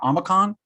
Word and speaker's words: Omicron: Do you guys know the proper pronunciation? Omicron?